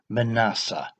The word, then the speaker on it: Manasseh: a time of history what looks like Menasha in the text seems to be pronounced Manasseh and it was meant